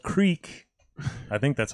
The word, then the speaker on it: Kriek: first one is from boom island it's called Creek I think that's how you pronounce it yep you were crack yeah Creek